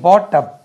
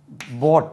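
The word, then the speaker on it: bought: right சரிஹி செட் ஐ பாட்அ பென்ஹி செட் my brother வெறும் பிரதரே போடுறீங்கள சார் சிஸ்டரே கொண்டு வரலையே அப்படின்னு வரும்ல்ல he said my sister போட் பி ஓ யூ ஜி உச்சரிப்பு கவனிங்க போட் அது பாட் கிடையாது மை சிஸ்டர் பாட் அடிக்சனரி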